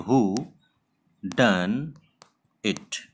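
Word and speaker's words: whodunit: इसका प्रोनाउंसिएशन बहुत सिंपल है, इसको आप इस तरह से प्रोनाउंस कर सकते हो, हु डन इट।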